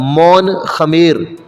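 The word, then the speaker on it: Mon-Khmer: टूट गई मुंडा और मौन खमेर प्रोनाउंस इसको हम ऐसे ही करते हैं लिख हैं एम ओ एन के एच एम ई आर तो जो हमारी ऑस्ट्रो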